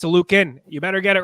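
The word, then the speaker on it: Oluokun: top here oh Lucan he wants his name to be pronounced a Lucan I heard him say that himself it's not Lucan it's a Lucan you better get it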